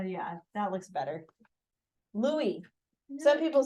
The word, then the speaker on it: Louis: stuff like that it's taser oh did I spell that wrong oh that's what you're trying to tell me l o u i s oh yeah yeah that looks better Louie some people say Louis your grandpa's Lou Lis